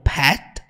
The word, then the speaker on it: pet: is she your Little Pet quando ela fala Pet vocês podem perceber que o t nem sai é como se ela